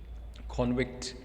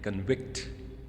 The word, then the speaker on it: convict: For the noun convict, the first syllable is spoken with greater force, while the second syllable is less loud.